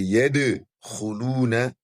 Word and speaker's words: يَدْخُلُونَ: You rather pronounce it yad, yad, as if the dalun is what? Breaking. Because dalun is among the huruf of qalqala. So you say yad khuluna fi dinillahi afwaja.